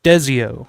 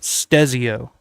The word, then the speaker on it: Stezio: It's like stereo but a right." So, aha, Jace. So, it's Stezio. Stezio.